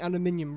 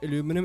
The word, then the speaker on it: aluminium: So, we don't say aluminum, it's aluminium. So, like an extra I in there.